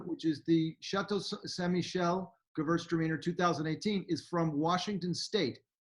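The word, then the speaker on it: Gewürztraminer: You mean the Gewurztraminer? Yeah. And now we're talking Gewurztraminer.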